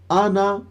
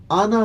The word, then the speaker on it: آنا: ہجوں میں پڑھا تھا۔ یہ جو ہمیں الف نظر آ رہا ہے، اس الف کو بیٹا نہ آپ نے ہجوں میں پڑھنا ہے نہ رواں پڑھنا ہے۔ ہجے اس کے اس طرح کریں گے، حمزہ زبر آ، نون زبر نا، آنا۔ وقف میں بھی اور رواں میں بھی دونوں طرح آنا ہی پڑھا جائے گا۔ چلیے آگے، باخیلا، وقف